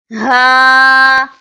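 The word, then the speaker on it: ه: kindly read after me ha ha comes from the back of the throat to pronounce this is hamza kindly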